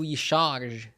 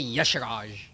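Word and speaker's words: Y'Shaarj: Why does everybody add an A to Yisharj? I mean, it depends on how you pronounce the Y. Savor the taste of victory. Right? A lot of people say Yasharaj.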